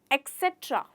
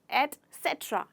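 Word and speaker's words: etcetera: हम कैसे बोलते हैं कई बार इसे लोग कहते हैं एक्सेट्रा एक्सेट्रा एक्चुअल में इसका प्रोनंसिएशन है एक्सट्रा एट सेट्र एक्सट्रा राइट यहां पे कोई भी एक्स का इस्तेमाल नहीं होता दोस्तों आपको ध्यान रखना है एक्स नहीं एक्सेट्रा नहीं है एक्सट्रा जैसे कि आपको जैसे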